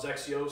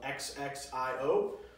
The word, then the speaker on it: XXIO: First off, XXIO spelled XXIO, pronounced similar to Xerox for those who aren't familiar with the brand.